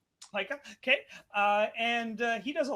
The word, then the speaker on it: Pyka: Pyka. Pyka.